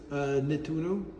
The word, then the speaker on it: Nettuno: I'm sorry, how is this name pronounced of this area? Nettuno.